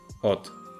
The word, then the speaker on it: od: The same happens in the previous word, od.